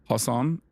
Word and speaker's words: Hasan: Hasan Piker.